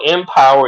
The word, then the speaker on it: MPWR: is mpwr media llc one dot com so empower mpwr is a play on words as we pronounce it as empire all right so that's